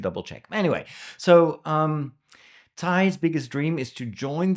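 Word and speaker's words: Tighe: mystery and that has to do with like Tai's biggest Desire by the way Tai some some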